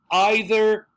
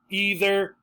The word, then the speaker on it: either: say well you can think about that so either either neither neither try another one all right so